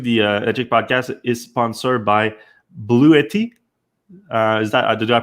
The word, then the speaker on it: Bluetti: sponsor this week the educast is sponsored by blue 80 is that the do I pronounce that right that's right yeah it's a